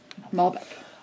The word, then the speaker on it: Malbec: Yeah, is that how it's pronounced? Yeah. Malbec.